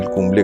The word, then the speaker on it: Kumble: और जैसे ही lunch time हुआ उसके बाद इंडिया के ड्रेसिंग रूम से किसी ने जाके बोला कि ही is called कुंबले एंड नॉट कुंबल, और तब वो प्रोनाउंसिएशन थोड़ा सा बदल गई।